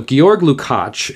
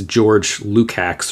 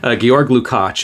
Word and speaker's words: Georg Lukács: And I know that you probably look at that and think it's George Lukács or something. But Georg Lukács is the proper pronunciation, at least as far as I can tell.